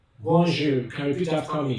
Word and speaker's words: bonjour: For example, bonjour, bon, b, o, n, j, that is G. Then ou. Now in French is pronounced ou, and your R is pronounced R. So bonjour, bonjour.